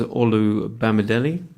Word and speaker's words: Olu Bamidele: to welcome our guest today his name is all Oh Bama deli very good very well pronounced thank you very much I've been practicing